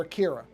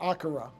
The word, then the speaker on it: Akira: redid the dubbing for Akira, or Akira, I guess you're supposed to pronounce it, but I'm going to just call it Akira because that's how I always grew up calling it that.